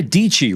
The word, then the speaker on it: Dici: Sarah Dici rhymes with Peachy, who recently skated through the B&H Superstore, joined.